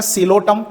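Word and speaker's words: Psilotum: सडा इसका एग्जांपल आएगा सिलो टम पी साइलेंट है सेकंड क्लास इ स्फिनॉप्सिडा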